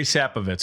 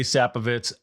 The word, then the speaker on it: Sapovits: we started and I feel like I maybe butchered it. It's Sappovitz. Sappovitz.